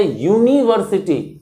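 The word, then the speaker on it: university: इज an honest officer इसी तरह से यूनिवर्सिटी यूनिवर्सिटी यू से स्टार्ट होता है बट इसका जो प्रोनंसिएशन होता है उससे पता चलता है कि वाई से स्टार्ट हो रहा है तो एन यूनिवर्सिटी नहीं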